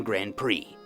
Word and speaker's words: Grand Prix: For example, the silent D and silent X in Grand Prix.